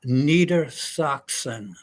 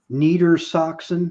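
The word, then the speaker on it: Niedersachsen: would that be U it it was called Neer soxon low Saxony Neer Saxon is that how you say it yeah neita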